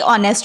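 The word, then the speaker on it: honest: दिया हो कि ए ऑनेस्ट मैन तो आपको पता होना चाहिए कि ऑनेस्ट का जो उच्चारण है वो एच साइलेंट हो जाता है।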